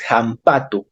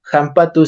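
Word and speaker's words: hampatu: la Ja Recuerden que la h en quichua se pronuncia como J Si no han visto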